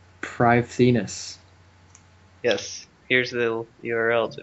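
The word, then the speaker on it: Prifddinas: That's the thing they said how to pronounce it. Privethinus.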